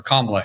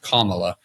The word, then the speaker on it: Kamala: new made person uh in Cala Harris or kamla Harris I keep calling wrong the name it's pronounced Kamala like Kamala kamla Harris I I I think